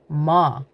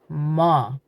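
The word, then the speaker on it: ما: In Dari, you say ma, ma.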